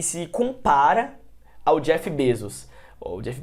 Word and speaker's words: Bezos: e você vai e se compara ao Jeff Bezos. Ou Jeff Bezos, né, que é a pronúncia.